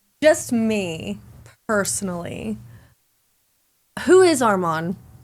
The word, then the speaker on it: Arman: Patty's not that Patty's not that active and they passed up uh Armen. Armen, how does he spell it? Arman.